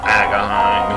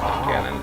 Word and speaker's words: Ganon: No, I don't use cape with triple Agenheim here. Agenheim, however you say his name. It's Ganon, by the way. It's pronounced Ganon.